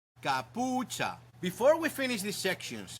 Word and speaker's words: capucha: Remember that ch in Spanish sounds like ch in church. Kapucha.